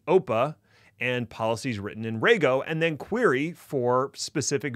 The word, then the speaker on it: Rego: expression almost it's not rgo it's pronounced Rego and the easiest way I remember that is to think of a ray gun so Rego is the